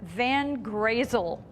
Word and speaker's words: Van Wezel: yes I am it's petunia van grazel oh how cute isn't that a cute name and that'll teach people how to really properly pronounce weasel that's great we have